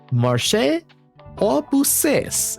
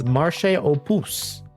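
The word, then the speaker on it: marché aux puces: Marché aux pousses is how I originally pronounced it, but apparently it's marché aux pouces.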